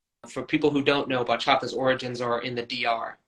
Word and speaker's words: bachata: you pronounce that foreign it's funny because I'm spell it it's b-a-c-h-a-t-a and uh for people who don't know bachata's Origins are in the Dr which is Dominican